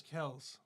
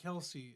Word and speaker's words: Kelce: But yeah, his last name is Travis Kels. It's not Kelsey. It's Kels. But they pronounce it Kelsey.